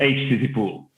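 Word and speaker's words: Httpool: Let's say that it's HTTP pool. Yeah. Everybody pronounces as they want it, but no problem.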